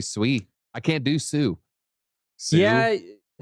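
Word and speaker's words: Sui: discovered that SWE is actually pronounced Sue, like tsunami.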